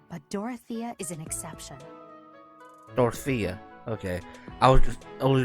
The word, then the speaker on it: Dorothea: Dorothea.